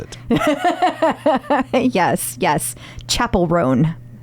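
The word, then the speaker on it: Chappell Roan: pronounce it yes yes Chapel rone I was told that we know now but it's spelled like Dave Chappelle it is like I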